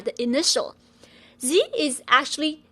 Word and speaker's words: zi: Zi is pronounced as Z. Whenever you see a pinion with a final I, you should ask yourself, is this one of the special seven? If it is, you should know that I here is just a filler. It's actually a silent I.